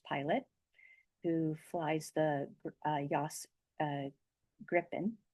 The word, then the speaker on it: Gripen: who flies the JAS Gripen, which is pronounced Griffin in English, but the JAS Gripen